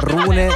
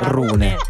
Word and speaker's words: Rune: il nome dell'avversario E perché non sappiamo se si pronuncia rune Run o rune Lui è tipo Danese credo Vis Ah vabbè quindi si rune quindi c'è sinner contro